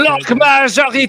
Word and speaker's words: Bloc majoritaire: Crazy, can you do the proper French pronunciation? Bloc majoritaire.